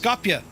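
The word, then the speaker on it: Skopje: It's pronounced Scopia.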